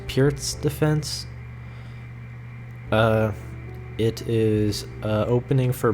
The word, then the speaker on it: Pirc: I believe it's pronounced Pirc defense.